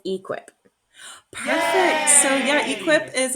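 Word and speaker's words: e-QIP: How Oh, do you pronounce that one? that one is equip.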